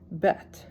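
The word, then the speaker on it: בֵּית: silent without a vowel bet sounds like B like a b vet v gimmel g like a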